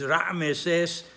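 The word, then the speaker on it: רעמסס: And the pronunciation is Ra'meses. Under the Ayin, there's a Sheva. Under the Mem, there's another Sheva. The first Sheva is Sheva Nah, so it is silent. The second Sheva under the Mem is Sheva Nah, so it's heard and it's vocalized.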